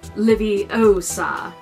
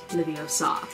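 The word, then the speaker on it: Leviosa: we pronounce each spell it truly is livvie osa not video saw so we're going to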